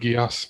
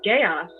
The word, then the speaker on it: geas: I've heard it pronounced Gios, kind of like Code Geass. Yeah. That's the way I always remember. And I've always thought it was chaos.